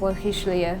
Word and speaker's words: Le Richelieu: It's actually pronounced Le Richelieu, but nobody says it that way.